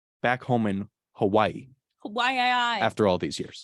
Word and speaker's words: Hawaii: is there really Hawaii it's like Hawaii yeah well there's apostrophe so it makes sense yeah never thought about that Hawaii Hawaii that's how they say it yes that's how they say in the native is Hawaii anyways what do I